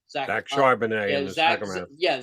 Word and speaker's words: Charbonnet: I don't know why they I get why they drafted I can never pronounce his name. Zach Charbonnet in the second round. Yeah, Zach Charbonnet.